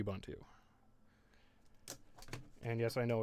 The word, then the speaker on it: Ubuntu: are very natively supported and I use K Ubuntu and yes I know it's actually pronounced Ubuntu that's not how I like to